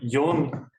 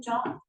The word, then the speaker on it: John: from the 40s, which is called Yohn ellipsoid theorem. I think it's called Yohn because he was German. But... I always call him John. Indeed, Helmut. Helmut is the German speaking. Yeah, well, the Americans say John, I think. But John, but I think John would presumably what the Germans would have said.